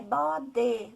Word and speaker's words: bode: Então, é essa pessoa que vai alertar essa criança, falar, não, mas o jeito certo de falar bode é com E, né? Bode, bode.